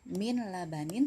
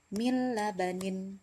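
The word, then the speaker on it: مِنْ لَبَنٍ: Bukan min labanin tapi mil labanin.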